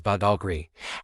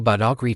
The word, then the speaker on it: Badagry: The Europeans who later arrived found it easier to pronounce as Bogri, and that's the name that has stuck through the centuries.